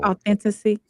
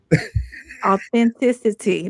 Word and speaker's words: authenticity: Authenticy. He said you said it wrong too. But I appreciate somewhere somewhere there. What's the definition for plug? What's the word? Authenticity.